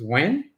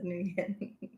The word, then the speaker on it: Nguyen: I think it was when.